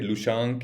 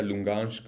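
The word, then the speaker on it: Луганськ: Pronounce करें, ठीक है, लुशांक या लुंगांस्क।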